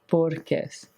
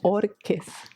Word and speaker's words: Bohorquez: Bohorquez. So it's like the H is silent. Are you filming? Bohorquez.